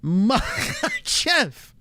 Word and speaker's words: Makhachev: Someone says don't pronounce the letter K. Strong H. That's all. Makhachev. I like to pronounce it like a sneeze. That's how I can get it right. Makhachev.